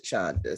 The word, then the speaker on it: Chanda: And I've been saying the name wrong, Venita. It's Chanda. I heard her mother say it, and she says Chanda, so I'm gonna say Chanda.